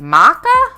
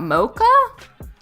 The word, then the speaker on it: maca: before very cute dogs maca you pronounce it maca not mocha you're probably right america